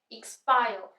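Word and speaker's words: expire: ये भी ् से स्टार्ट हो रहा है एक्सपायर र साइलेंट रहेगा अब य प ट्रिपन का यूज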